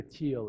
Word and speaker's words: Thiel: you know who Peter teal is okay so Peter teal I would look him up as well if you're interested in following up his last name is spelled th iel th iel peter thiel so Peter teal is